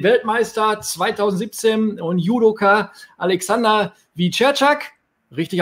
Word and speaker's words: Wieczerzak: Als Nächsten haben wir den Weltmeister 2017 und Judoka Alexander Wiczerczak. Richtig ausgesprochen.